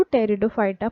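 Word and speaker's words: Pteridophyta: देखते हैं टेरिडोफाइटा टेरिडोफाइटा में पहले पी लिखा हुआ है ठीक है पीटी इस तरह से स्पेयरिंग है इसमें साइलेंट है इसको टेरिडोफाइटा पढ़ा जाता बाद में इसी आदि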